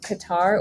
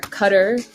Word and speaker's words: Qatar: I went to Qatar, or Qatar, as it's supposed to be pronounced, I learned.